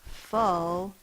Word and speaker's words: full: The sound is like in book, not like in up. We don't say I was full. We say I am full. It's the two O's sound, but it is spelled with a U.